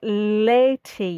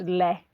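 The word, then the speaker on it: laeti: Um the only odd one is lei in the first third complete bar l a e and they usually appear in um old Latin versions with the a and the e back to back like conjoined um and that's just pronounced lei um triumpantes and everything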